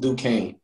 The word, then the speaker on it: Duquesne: It's like, if you read the name, it's like you can't even, if you look at it, you won't be able to pronounce it, but I'm pretty sure it's pronounced Duquesne.